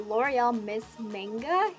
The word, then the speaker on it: Miss Manga: And the second one that I like to use is the L'Oreal Miss Manga, that's how you say it.